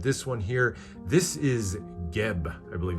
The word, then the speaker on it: Geb: This is Geb, I believe it's pronounced, G-E-B.